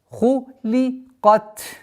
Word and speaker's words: خُلِقَتْ: Кайфа хуликат. При остановке нужно выделить фрикативный звук та. Хуликат.